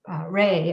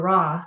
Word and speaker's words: Ra: It was valuable, so gold, and the sun is like Re or Ra. It's pronounced, I've heard it pronounced both ways. I'm not sure if there's a correct way, but Amun Ra, Amun